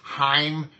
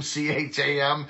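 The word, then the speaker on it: Chaim: see Dr Weissman so his name is Heim Jewish name c-h-a-m he didn't know how to pronounce it he called them Cham so he called them champ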